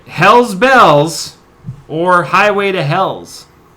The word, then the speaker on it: Helles: is it Hell's Bells or Highway to Hell's? Hell's is spelled in both circumstances Helles. ES. Oh, okay. Hell's. Not Hell's. Hell's. It's a subtle difference.